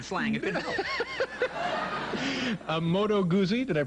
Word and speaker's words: Moto Guzzi: A Moto Guzzi. Did I pronounce that correctly? That's Moto Guzzi?